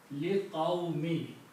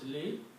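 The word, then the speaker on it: لِقَوْمِ: the next word, and if there is a dhamma here, it changes into a kasra. So this word becomes liqawmi. Okay. Its pronunciation changes, it becomes liqawmi.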